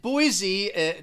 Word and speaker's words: Boise: capital city of idaho and boise two syllables the stress is on the first syllable but i think when